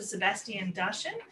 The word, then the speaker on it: Sebastien Darchen: Sebastien Darchen, who holds a PhD in urban studies. I hope I pronounced your name right.